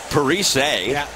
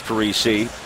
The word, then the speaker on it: Parise: His dad, JP, who interestingly pronounces it Parise, but Zach prefers Parise.